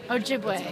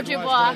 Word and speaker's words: Ojibwe: But I'm a member of the Medewan Lodge, which is the original Ojibwe Medicine Society. Oh, I just learned how to pronounce that. It's Ojibwe. Ojibwe or Ojibwa, it's the same thing.